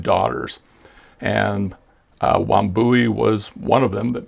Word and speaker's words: Wambui: Let's move on to the next one, which is Wambui. I believe that's how you pronounce it, Wambui, which is a zebra jasper shield.